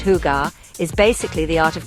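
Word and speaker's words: hygge: that elusive concept of higer higer pronounced hugar is basically the art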